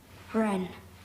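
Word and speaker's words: wren: W R E S T L E Ren were w R E N.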